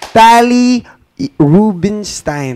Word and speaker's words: Tali Rubinstein: Welcome to Miss TALI RUBINSTEIN. Tama po ba? Am I correct? Did I pronounce it right?